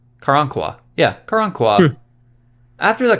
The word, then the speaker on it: Karankawa: the precursors to the texas rangers after the karwankwa i think i pronounced that right karankawa yeah karan kua after the karangkwa repeatedly attacked